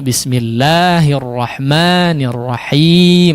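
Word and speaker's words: بسم الله الرحمن الرحيم: Khususnya di lafzul jalalah Allah ya, bismillah 2 harakat saja, ar-rahman. Nah, di sini 2 harakat saja ya, tidak boleh terlalu panjang. Tidak terlalu singkat juga ya, tapi 2 harakat.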